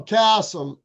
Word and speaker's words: Kassem: Kassem, Kassem. Kassem. yeah, I Chad mean, Kassem, not Kasem.